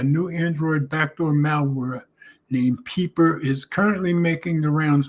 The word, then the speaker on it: Wpeeper: I'm going to assume the W is silent, so I'm going to call it Peeper.